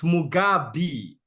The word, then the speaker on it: Mugabi: So Mugabi, it's Mugabi. Pronounce my damn name right, or at least try.